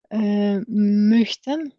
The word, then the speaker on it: möchten: Möchten. So it's like O and Y, something between O and Y.